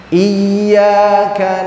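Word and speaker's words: إياك: Iyyaka na'budu wa iyyaka nasta'in. Terus ihdinas. Nah, hak besar dalam pengucapan yang benar bukan di dada.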